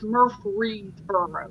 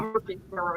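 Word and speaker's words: Murfreesboro: u g h well it's I probably didn't pronounce it it's murre burrow it's got an in there not Murphy bur it's murre bur m y p HR right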